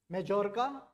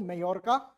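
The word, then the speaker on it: Majorca: मेलका इज in Spain and there are there are three other islands that we should know that is मेजोरका और also pronounce S मेयोरका एंड मिनोरका।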